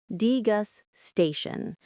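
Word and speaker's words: degustation: Degasation. The stress is on that third syllable t.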